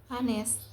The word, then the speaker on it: honest: H is silent in the word to. For example, Our becomes our, school becomes school, honest becomes honest.